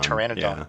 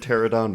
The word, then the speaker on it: pteranodon: makes sense yeah also we may have been saying that dinosaur name wrong but whatever who cares um yeah no tyranitar pteranodon oh i think i said pterodon once and y'all were like